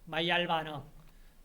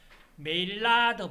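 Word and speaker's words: Maillard: 번째 마이 알바는 자이 사람 이름이 영어식 발음으로 하면 메일로드입니다 근데이 사람은 프랑스 사람이에요 프랑스 사람 이름이기 때문에 고유명사입니다 고유명사는 고유명사 그대로 불러 줘야 돼요 그런데 어떤 사람은 멜라드 반응 이카입니다 마이야로 마이알 반응으로 이름을 불러주세요 마야리 1912년에 최초로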